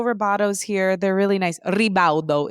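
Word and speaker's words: Ribaudo: Rebaldo is how you say it. And my mom's maiden name is spelled R I B A U D O. Rebao.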